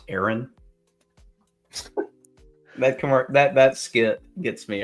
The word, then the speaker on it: Aaron: A Aon. A Aon. It's pronounced Aaron.